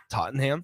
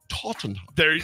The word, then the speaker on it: Tottenham: Nick, say Tottenham. Tottenham? No, Tottenham. Tottenham. Tottenham. There you go.